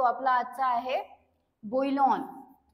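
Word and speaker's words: bouillon: तो आपला आजचा आहे बोईलन बोईलन याला प्रोनान्स असं करायचं बोईलन आणि त्याची स्पेलिंग काय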